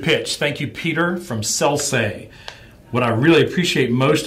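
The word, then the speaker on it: Sellsay: But it's Selsay, S-E-L-L-S-A-Y.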